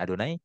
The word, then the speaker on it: Adonai: Adonai saya bacanya Adonai tapi di situ tertulisnya yod he vavhe Y H.